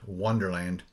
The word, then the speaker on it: Onederland: it today I hit hit Wonderland not spelled with a W but o n e derland and uh I'm not